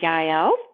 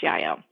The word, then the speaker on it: Jael: But in the book of Judges, in the Old Testament, her name is spelled Jael, but I'm almost pretty sure it is pronounced Yael.